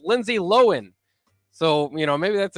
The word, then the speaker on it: Lindsay Lohan: was revealed today by lindsay lohan that we're we've been saying your name wrong the whole time it's lindsay lohan so you know maybe